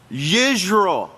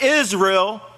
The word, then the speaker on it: Yisrayl: Now, let's pronounce this right. Yisrayl. Can you say Yisrayl? Not Israel. Yisrayl.